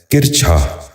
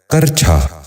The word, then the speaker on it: کرچھا: غور سے سنیے، کتبہ۔ چوتھا لفظ ہے کرچھا۔ یہ غلط تلفظ ہے، درست تلفظ ہے کرچھا۔ دوبارہ سنیے، کرچھا۔ بچوں